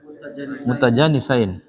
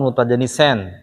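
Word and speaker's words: متجانسين: Mutajanisain. Mutajanisain. Bukan mutajanisen.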